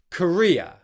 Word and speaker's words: Korea: Korea, Korea, Courier, Korea, Korea, Courier, Korea, Korea, Courier, Korea, Korea, Courier.